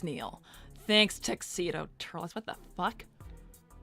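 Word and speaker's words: Nihil: sir Neil who's Neil it's Neil actually well you're going to have to spell it out because they just put Neil n i h i l so basically it's Neil thanks tedo Turles what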